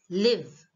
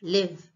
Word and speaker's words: live: So live as verb is live. Okay? I want to live here. Live. And the second one as an adjective is, the spelling is same, but the way you pronounce is different. Live as an adjective is live.